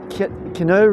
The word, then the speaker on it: Keanu: It stars Keanu Keanu Reeves. That's how you pronounce it.